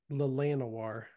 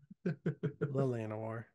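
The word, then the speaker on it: Llanowar: basics because these are actually this is actually pronounced lanoir lanoir which printing Alex are we doing revised are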